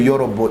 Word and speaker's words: Yorobo: Il s'appelle Yorobo, Y-O-R-O-B-O. Moi, c'est les. Lui, c'est B-O. Moi, les, c'est beauté. B-E-A-U. Il faut bien comprendre. Donc, quand vous voyez Yorobo, non, ça, quand vous prononcez là, ça sonne Yorobo.